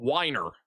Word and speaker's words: Weiner: Well, there is a place called Weiner somewhere. I don't know where that town ever went. Apparently, it was called Winer.